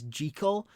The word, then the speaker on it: Jekyll: Hyde and fun fact you're meant to pronounce Jekyll as gee Cole because the guy who wrote the book is Scottish and that's how you pronounce in Scotland check also there's an